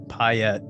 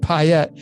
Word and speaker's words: Payette: It's like Piet. It's pi. I pronounced it right. Good for me. You did. Yeah. It's Piet. So, when you separate the syllables, pi obviously is pi. And then the 2 T's that come together form the symbol of pi.